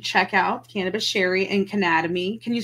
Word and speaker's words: Cannademy: out cannabis Sherry and Canada me can you spell that for us and let me yeah it's like Academy but Anatomy c-a-n-n-a-d-e-m-y okay perfect and I